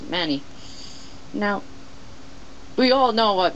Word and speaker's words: ManyCam: it's named Manny uh it mostly it's pronounced uh many but for this one it's pronounced Manny now we all know